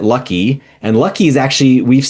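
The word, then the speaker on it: Luki: There's a character uh Lukey or L U KI. Um Thor or Sigard pronounces it Lucky.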